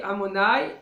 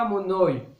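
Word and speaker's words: אדוני: Tu dis Amonai et pas Amonoi avec le cholam, comme cholam. C'est-à-dire le kamatz chez les ashkénazes c'est O.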